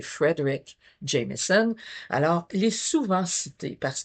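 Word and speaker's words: Fredric Jameson: Frédéric Jameson est souvent je prononce pas bien parce que c'est Frederick Jamison.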